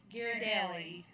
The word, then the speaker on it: Ghirardelli: Ghirardelli.